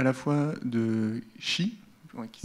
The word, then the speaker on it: Qi: choisi de vous parler à la fois de chi qui s'écrit petits mecs et qui se dit fier